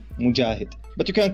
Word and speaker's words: Mojahed: Hi, for you and for your audience, you can pronounce my name as Mojahed, Mojahed, Mojahed.